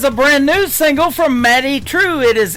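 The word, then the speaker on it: Madye Trew: That is a brand new single from Maddie True. It is M A D Y E on her first name and True is spelled T R E W.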